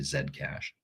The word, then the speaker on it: Zcash: coin and zcash uh in America of course it's zcash that's why the initials are zc but in Canada we we we actually pronounce that letter correctly and so we just I just say Zed cach this one here was